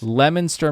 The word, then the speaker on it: Leominster: The O is silent. Yes. Leominster, Massachusetts.